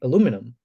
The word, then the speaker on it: aluminium: misspelled the eye and that's why the us guys and the canadians say aluminum while the british and the european say aluminium so i don't know